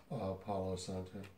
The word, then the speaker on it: Palo Santo: Palo Santo.